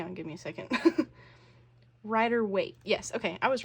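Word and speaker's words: Rider-Waite: in the traditional um the I'm going to mispronounce this the rer weight rer right hang on give me a second Rider weight yes okay I was right on the original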